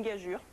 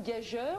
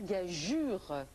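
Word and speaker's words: gageure: avez bien prononcé parce que si parfois on entend une gageur c'est une erreur bon que les dictionnaires finissent par admettre mais on doit dire gagure bien sûr et il y avait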